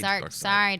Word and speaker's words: Darkseid: Who would have thought 20 years ago that Thanos would have become a household name while Darkseid would still Darkseid. Darkseid. I know would it's spelled still seed.